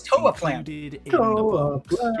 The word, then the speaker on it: Toaplan: games between No, it's Toaplan.